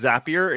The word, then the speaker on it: Zapier: pronounces it right I I pronounce it zapier because I think you're creating a zap we've had this I've heard from the developer through a podcast that he says zapier and he says apps but that that's you know